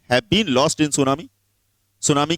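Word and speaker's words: tsunami: been lost in सुनामी सुनामी की spelling में टी आता है लेकिन टी म्यूट रहता है सुनामी जानते हो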